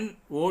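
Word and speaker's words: know: r t art k n o w no no k n o w no k silent w e r e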